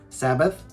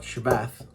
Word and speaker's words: Shabbat: those people who say sabbath a lovely christian people and those who say shabbat are jewish people aren't they but shabbat is the actual correct way to phonetically sound out those hebrew symbols so let's be